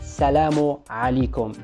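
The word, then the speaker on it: السلام عليكم: Another way to greet people in Morocco is to say the expression salamu alaikum. Salamu alaikum with letter U at the end of salam.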